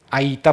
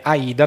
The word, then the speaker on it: Aida: è lo stesso Mariet che dice Aita possiamo veniva letto ITI come Aita, oggi noi lo leggiamo IT. Dice potremmo però tranquillamente farlo passare come Aida perché i cantanti potrebbero avere difficoltà a a pronunciare la T e quasi sicuramente slitteranno verso la D.